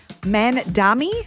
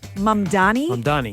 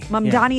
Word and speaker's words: Mamdani: A lot of people are mixing up the M and the N in his name, and so they're saying Mandami Oh, no. instead of Mamdani. Mamdani is the right way to say it, okay?